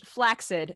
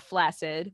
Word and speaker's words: flaccid: very elaborate um je standard pronunciation is flaid not flaccid most people pronounce it to rhyme with acid but the first C should sound like a hard kid no that's like learning